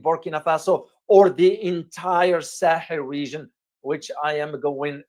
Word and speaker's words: Sahel: The Sahel region, or a Sahel in Arabic and Sahel in English, how we pronounce it, is a wide